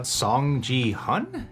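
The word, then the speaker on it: Seong Gi-hun: hook an audience yeah song ji hun is how you say it a song song he's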